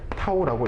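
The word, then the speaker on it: τ: 그래서 얘를 타우라고 읽어주시면 돼요.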